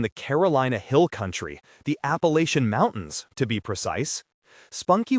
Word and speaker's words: Appalachian: These are people from the Carolina Hill Country, the Appalachian Mountains, to be precise. Spunky was relieved that he pronounced Appalachian correctly. Appalachian, not the northern affectation Appalachian.